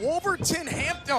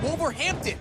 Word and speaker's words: Wolverhampton: for just about eight years got together in wolverton hampton how do you say it wolverhampton wolverhampton england yeah great city uh been there